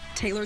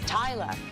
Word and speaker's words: Taylor: pronounced in different countries, because up north here in America it's Taylor, and then in the south it's Taylor, and then it's in Australia it's Tyler, and then in England it's Taylor.